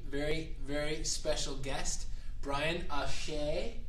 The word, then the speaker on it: Achee: Today we have a very, very, very special guest, Brian Achey, spelled A-C-H-E-E, and you pronounce it Achey, right?